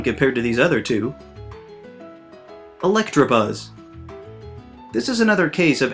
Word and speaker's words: Electabuzz: Electabuzz. This is another case of adding letters that don't exist, because there's no R in his name.